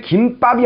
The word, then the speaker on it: 김밥: 근데 김밥이 아니라 김밥이라고 발음을 하셔야 됩니다. 얘는 된소리가 만들어지지 않습니다.